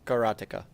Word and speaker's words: karateka: bird karateka oh yes I called it I pronounced it character I used to I used to pronounce it that way as well however after I actually you know spent years studying martial arts it's karateka karate I know we had that conversation before